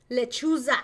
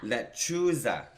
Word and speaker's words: lechuza: Lechuza. Lechuza.